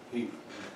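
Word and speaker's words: Heth: Hill sends General Henry, how do you pronounce it, Heath or Heath? Heath. Heath. You guys always pronounce things silly.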